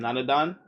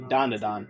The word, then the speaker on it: Dandadan: Is that like preventing evil spirits from trespassing, kind of like in Nanadan? I should say it properly. Dandadan, I said too.